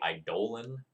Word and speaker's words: Eidolon: Also, fun fact, the pronunciation of that word is actually Eidolon. The second O is long.